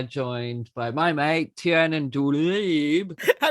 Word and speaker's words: Douieb: I'm from an area called Finsbury Park, so I've always pronounced it Douieb, Tiernan Douieb. But my cousin has been researching our family history, and we think my granddad's parents were from Algeria, so it should be Douieb, right?